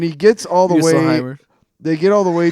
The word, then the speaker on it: Muspelheim: But we should go down to, Muspelheim. Muspelheim. Look how it's spelled. Just because it's a U does not mean it has to be you.